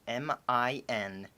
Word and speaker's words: Minamul: That is spelled M-I-N-A-M-U-L.